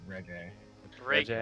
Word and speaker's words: reggae: Is it pronounced reggae? It's reggae.